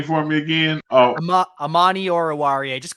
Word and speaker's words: Amani Oruwariye: Oh, Amani Oruwariye.